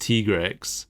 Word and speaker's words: Tigrex: Yeah, we have learned recently that it's officially pronounced Tigrex. Is it officially pronounced Tigrex? Because I feel like the handler has mispronounced a few things in the game. See, when the handler said Tigrex, I was completely on board that Monster Hunter World just pronounced it wrong. But then this preview also pronounced it Tigrex in both languages. Oh. So, yeah, the Japanese audio said Tigrex, and so did the dub.